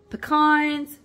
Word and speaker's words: pecans: always heard them called I know people pronounce it different ways where I am here in Alabama I hear people pronounce it all different ways here but I grew up here and I'm called pecans peans PE cans peans whatever you call them they're delicious this is